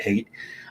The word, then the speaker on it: Haidt: And so using moral foundations theory as kind of the backbone for this, Jonathan Haidt, the the it's it's spelled Haidt but he pronounces it Haidt, um the principal researcher behind this, he proposes that there are six moral taste buds.